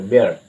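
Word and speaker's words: bear: তারপরে হয় বেয়ার, বেয়ার, ঠিক আছে, বেয়ার, এই আর এর উচ্চারণ হালকা আর মতো আসবে, বেয়ার।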